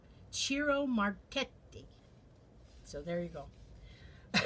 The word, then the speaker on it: Ciro: Now, Ciro Marchetti, and that is the Italian way to pronounce it. I know it's spelled Ciro, but it's actually pronounced Cheeroh. Ciro. Ciro Marchetti.